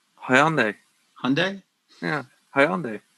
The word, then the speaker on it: Hyundai: good luck WWE I hope your other sponsor hyand is better hope those cars actually work unlike the game can can you pronounce that again for me the that car manufacturer's name hyand Hyundai yeah hyand how you say hyund Hyundai proun